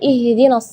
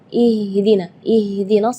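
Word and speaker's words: اهدنا: Sedangkan makhraj huruf H itu adalah dari tenggorokan.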